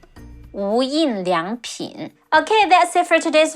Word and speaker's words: 无印良品: In Chinese, it's pronounced as 无印良品. 无印良品.